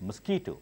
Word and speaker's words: mosquito: one let's see insects but mosquito it's not musk we told this mosquito all these pronunciations will